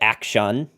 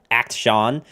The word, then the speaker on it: Akshan: I like how you pronounce it Akshan. I mean, there's a long while where I was saying Akshan. Like literally just the word act and then the name Sean, Act Sean.